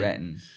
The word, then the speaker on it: Renton: It's spelled with a T, but you don't pronounce the T. Renton.